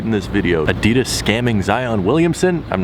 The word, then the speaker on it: Zyon: These are the new Yeezy Zyon Williamsons that have nothing to do with Zion Williamson. It's spelled differently than Zion Williamson, but it sounds the same.